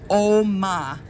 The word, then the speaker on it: OMA: People pronounce it OMA, like Open Meetings Act.